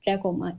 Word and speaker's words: trachoma: है ट्रैकोमा ठीक है ट्रैकोमा टी आर ए सी एच ओ एम ए ट्रैकोमा इसकी एग्जैक्ट प्रोनाउंसिएशन क्या है ट्रैकोमा ठीक है तो इसकी